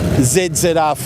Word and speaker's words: ZZR: ZZR 1400. I'll just pronounce the Zs correctly for you, rather than the incorrect way that Americans say it.